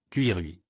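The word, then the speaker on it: 奇瑞: Mais le nom du fabricant bien connu Chery signifie « bon présage » en chinois et se prononce d'une manière un peu inattendue, Cuirui.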